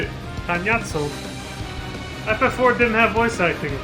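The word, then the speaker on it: Cagnazzo: All shall cower before the might of Archfiend Kanyetso! So that's how you say it. Kanyatso.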